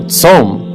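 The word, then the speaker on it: צום: for fasting is also tzom. It's pronounced exactly the same.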